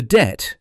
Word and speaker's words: Det: The Det, pronounced as in detachment, was the army's covert surveillance unit in Northern Ireland, officially known as 14 Intelligence Company, 14 Int for short.